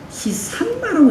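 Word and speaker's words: 시심마: 어릴 때 한참 공부할 시절 스승은 늘상 이렇게 시신마라고 하면 안 되고 시산마라고 해야 된다고 계속 가르쳐요.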